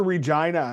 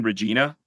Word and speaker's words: Regina: And do people just walk around saying Regina? No, everyone says Regina. That's if you say Regina, you're a tourist. You'll be very quickly corrected on the pronunciation.